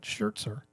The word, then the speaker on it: Scherzer: Young Award winner Max Scherzer. or Scherzer. If you're German, you would pronounce that Schzer.